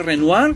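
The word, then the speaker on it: Renoir: de las obras de renoar Me parece que se pronuncia así alguna de las obras de renuar pertenecen a un espacio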